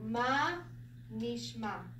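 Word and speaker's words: מה נשמע: And then we have a noon, which is the N sound. We have the long E, ni. This is a sheen, and that shva is the stop. So niche, niche. And then really it's the same sound again. That's probably why I did. Yeah. So it's ma. So and the ayin is just like an aleph. When it's on the end, it's silent, it makes no sound. So ma, nishma.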